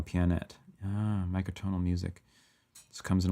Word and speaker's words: Pianet: wanted to be Planet it's pronounced like piano pianet ah micronal music comes